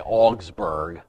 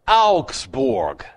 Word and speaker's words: Augsburg: called the augsborg confession well in english we say augsburg it's augsborg a-u-g-s-b-u-r-g auxborg one of these anglo-saxons gonna stop mispronouncing good german words i'd like to